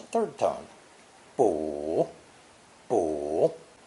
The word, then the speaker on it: 卜: depicting the process of consulting an article is pronounced third tone boo poor it's generally used in conjunction with our